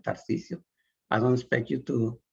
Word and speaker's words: Tarcisio: That's right, Tarcisio. I don't expect you to pronounce my name correctly nor to learn it.